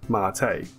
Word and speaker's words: MATE: the desktop environment called marte it's spelled mata but it's pronounced marte kind of like latte decided to pick this